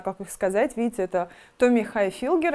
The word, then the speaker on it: Tommy Hilfiger: Tommy Hilfiger. Слушай. Как это произносится? Tommy Hilfiger.